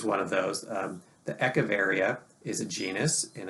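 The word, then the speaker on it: Echeveria: get things changed and moved and people don't spell it right and it sometimes that that sticks anyways eavara is the way you would normally say it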